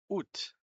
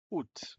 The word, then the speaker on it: août: Y este agosto, hay una A al principio de agosto que está de adorno, no se pronuncia.